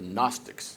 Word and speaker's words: Gnostics: wonderful new awareness of the gnostics with a silent g at the beginning these astonishing thinkers who